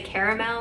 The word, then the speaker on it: caramel: anastasia caramel caramel pomade i say caramel but i know most people say caramel that's how it's spelled so i honestly am probably the one saying it wrong i'll show you how